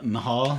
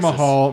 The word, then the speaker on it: Mahal: say his last name it's Jinder what uh Mahal Jinder Mahal and he used to be in